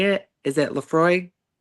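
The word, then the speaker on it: Laphroaig: And you did nail the pronunciation of Leafroy. However, I do accept Lamprog as a answer as well.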